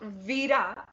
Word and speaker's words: Vira: Okay, so Vira rhymes with Bira.